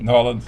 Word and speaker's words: New Orleans: New Orleans?